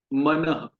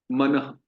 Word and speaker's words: मनः: जैसे इसका उच्चारण होगा मनः। मान लीजिए एक ह की ध्वनि हमने बाद में जोड़ी, मनः, मनः, बोलिए, मनः।